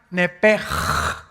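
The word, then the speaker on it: נפש: Esa palabra alma es la palabra hebrea nepesh, así como suena N-E-P-E-S-H, nepesh. La palabra, la letra o las letras S-H en el hebreo se pronuncian en hebreo como J. Entonces se pronuncia nepej.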